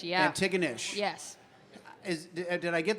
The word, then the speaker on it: Antigonish: from Canada I am uh you are from Antigonish Nova Scotia Antigonish yeah Antigonish yes is did I get the pronunciation close close enough honestly at least at